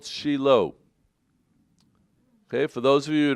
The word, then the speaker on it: Shiloh: the name resonates oh but we call it sheilo that's the proper hebrew pronunciation anyhow sheilo was the first